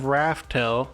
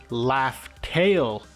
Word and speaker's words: Laugh Tale: it turns out that Oda hid the true name of Rafel through a purposeful mispronunciation the final island is laugh tail named by gold D